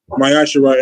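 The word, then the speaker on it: מעשר: And it's pronounced myasher in the Hebrew.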